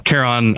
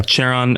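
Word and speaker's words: Charon: and of course uh caron i i think i'm pronouncing that correctly chair on tehran yeah chair on uh karen hopefully not karen yeah uh the boatman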